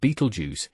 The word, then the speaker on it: Betelgeuse: Beetlej pronounced Beetlejuice. Yes, the name inspired the iconic Halloween movie character sits approximately 650 lighty years away from Earth and shines 100,000 times brighter than our sun.